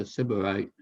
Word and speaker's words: Sybarite: Uh, uh, am I pronouncing it right? Sybarit? The word Sybarit? It's Sybaritic or Sybarite. That's right, Sybarite.